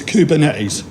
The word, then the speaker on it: Kubernetes: they have different pronunciations this one has a lot of different pronunciations we've got Cuban is Cuban air is community's Cuban A's and I'm gonna clean up tonight it's kubernetes cuz I'm from Yorkshire so therefore I'm right okay so kubernetes if you